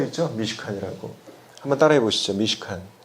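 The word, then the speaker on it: מִשְׁכָּן: 오늘 여기 1절에서 보면은 성막이라는 그런 단어가 나오는데 특별히 이 성막이라는 단어는 히브리어로는 미시칸입니다. 미시칸. 저 앞에 지금 써 있죠? 미시칸이라고. 한번 따라해 보시죠. 미시칸.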